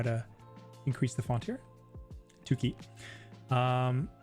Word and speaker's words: Tuki: Tuki. Um, I think her name is pronounced Tsuki in Japanese. Suki because there's no two sound, but I don't know. Just stylistically, it's Tuki.